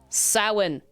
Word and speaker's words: Samhain: Samhain.